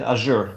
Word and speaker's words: Azure: DJP, Kunal pronounce it Azure, not Azure.